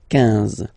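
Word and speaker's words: quinze: Same thing here, U doesn't exist, so 15, 15, 15, alright? IN, nasal, so it's 1, 1, 15, 15, okay?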